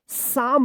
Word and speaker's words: psalm: तो देखिए यहाँ पे दो रूल है। यहाँ पे तो एस से पहले पी आया है तो क्या रहेगा? पी साइलेंट रहेगा। अब एम से पहले एल आया है तो यहाँ पे भी रूल में आप पढ़े थे ना एल वाला में, तो क्या है कि यहाँ पे भी एल साइलेंट रहेगा। क्या पढ़ेंगे इसको? साम पढ़ेंगे, PSALM। यहाँ पे दो वर्ड्स जो